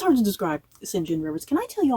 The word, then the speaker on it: St John: kept going you know she kept saying singen and I was like who the hell is singen and then it finally occurred to me she was talking about singen rivers who I had been like I said calling St John Rivers so what's up with